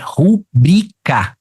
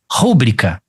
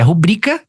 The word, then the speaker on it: rubrica: de ortoepia também porque a pronúncia correta é rubrica e você pronunciou como rúbrica assim como tem aquela